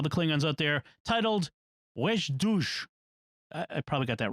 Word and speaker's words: wej Duj: wej Duj. Duj. Yeah. Okay. The D, the emphatic D, is like the English D, but you pull your tongue farther back in your throat. Okay. Or in your mouth.